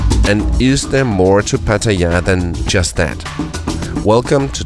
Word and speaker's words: Pattaya: it's best price guaranteed the British say Patea we Danes say Pattaya and the Thai people themselves say Pattaya but it's really much